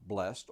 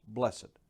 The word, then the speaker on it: blessed: but the word blessed you may pronounce it as one syllable blessed or with two syllables blessed regardless of how you